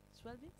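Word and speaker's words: Schweblin: ¿Cómo se pronuncia? Schwelbin, sí.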